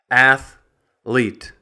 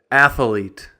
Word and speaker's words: athlete: It's a 2-syllable word, athlete. But sometimes you'll hear people say, athlete, athlete.